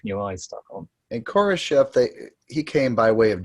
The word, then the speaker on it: Khrushchev: Khrushchev, not Khrushchev. Okay, thank you. Khrushchev. You've got to get the Russian pronunciation.